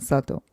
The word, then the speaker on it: subtle: Think of it spelled like S-U-T, subtle.